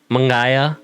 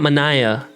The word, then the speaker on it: Mangaya: She likes saying her name is Manaya, and I'm like, bah, say her name right. Don't be. That's not what you was named, bro. You're not Manaya. You're Mangaya. Yeah.